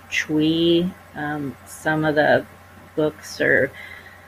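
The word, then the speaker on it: chui: be the kidney which is uh c-h-u-i pronounced tree some of the books are more other spellings they may say c-h-r-e-e but it's pronounced chewy so you would direct your intention towards your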